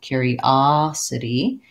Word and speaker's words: curiosity: of room there okay so the difference is instead of first syllable stress we have stress on the third syllable the O sounds like ah in this word so that's going to be where I'm stretching curiosity and I'm still going